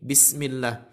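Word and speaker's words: بسم الله: Ketika pengucapan huruf ba, khususnya pada awal ayat ini, Bismillah, ada agak dikencangkan, bis, bukan bis.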